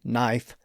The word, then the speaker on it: knife: But the primary exception is the silent K at the beginning of many words like knife, knee, no K ni G ht, and not k n o t. Of course, those k's are there because there was once a k sound at the front of those words. So a word like knife was knife and knee was kay.